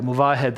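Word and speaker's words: Movahed: Yeah, Muvahed is of course the correct pronunciation.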